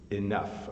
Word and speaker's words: enough: then we also have another word that rhymes which is enough hello Salem Mohamed and